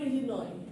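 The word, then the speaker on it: Illinois: for example if ইউ সে দ্যা এস ইন ইলিনস উচ্চারণ হবে ইলিন ইলিন হ্যাঁ কতগুলো শব্দের যেমন নিউমোনিয়া আমরা কি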